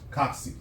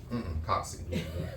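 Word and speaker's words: cocci: So, one of them is Coxi. That's the name you that's the way that you pronounce it. Coxi Coxy.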